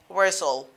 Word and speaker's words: whistle: When we have S-T-E-L in the spirit, so the letter T is not pronounced. We pronounce it as whistle, whistle.